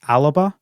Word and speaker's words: Alba: like me know that alba is also the gaelic name for scotland which is pronounced aliba that's not how this game is pronounced as alba so it's how probably